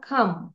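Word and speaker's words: calm: the river was নট ক্লাম না খাম এল এর উচ্চারণ হবে না ডোন্ট প্রোনাউন্স এল এন্ড ছুরিটি কি ধারালো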